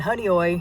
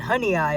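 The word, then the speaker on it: Honeoye: can find uh and honey oi is the way this pronounced thank you Alex for correcting me this morning I've been saying honey eye all this time uh which you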